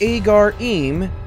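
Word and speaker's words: Ħaġar Qim: Number 4, Agar-Im, Malta. Pronounced Agar-Im, this Neolithic site's name means standing stones.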